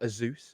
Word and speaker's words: Asus: And he meant like Asus, and I was like, "It is, Sure. but it is Asus. Like that's how it's supposed to be pronounced."